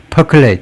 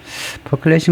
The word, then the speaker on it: percolate: 발음은 percolate, per를 좀 길게 percolate 하고 뜻은요, meaning liquid은 액체가